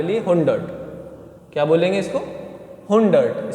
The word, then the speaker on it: hundert: हुंडर्ट, spelling देख लो, हुंडर्ट, HUNDERT, ठीक है, हुंडर्ट।